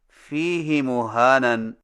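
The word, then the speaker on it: فِيهِ مُهَانًا: Number 9، فیہ مہانن میں فیہ کی ہا کو کچھ کھینچ کر پڑھیں، یعنی اس طرح فیہ مہانن۔ ہماری قراءت روایت حفص میں اسے فیہ ہدن کی طرح فیہ مہانن پڑھنا صحیح نہیں۔ صحیح تلفظ کے ساتھ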